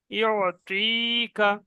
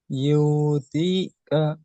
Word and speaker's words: يعطيك: জের, ইয়া মাদ্দা হবে ইউতিকা। ইউতিকা। এখানে ইউ টান হয়ে যাচ্ছে, এখানে ইউ টান হবে না, ইয়া আইন পেশ ইউ, ইউ, ইউ ইউ ইউতিকা। আইনটা গলার মধ্যে চলে যাবে।